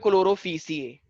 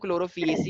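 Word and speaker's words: Chlorophyceae: तो क्लोरोफिएसी, कुछ लोग इसको बोलते हैं क्लोरोफिसिए, क्लोरोफिसिए भी बोल सकते हो, लेकिन मैं क्या बोलता हूँ क्लोरोफिएसी होता है, प्रोनाउंसिएशन फिएसी ही बोलते हैं, ठीक है।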